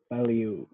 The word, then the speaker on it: value: pretty good value value value yeah it's basically it's two sounds val v-a-l and the letter u value value val you okay just like that but